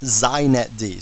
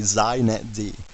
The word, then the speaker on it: xinetd: me just say a couple things first it's pronounced zet D so if you want to be hip you say zet D okay and secondly it's the epitome of why